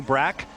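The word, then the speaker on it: Bräck: pole sitter was kenny brack who has let it be known he'd like to americanize his last name pronounce the short a this year cristiano damato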